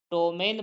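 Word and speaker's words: ptomaine: क्या पढ़ेंगे निमोनिया पढ़ेंगे उसी प्रकार पी टी ओ एम ए आई एन ई तो पी के बाद क्या आ रहा है टी आ रहा है तो पी के बाद टी आ रहा है तो पी साइलेंट हो जाएगा तो पी टी ओ एम ए आई एन ई को पढ़ेंगे हम टोमेन पढ़ेंगे क्या पढ़ेंगे टोमेन पढ़ेंगे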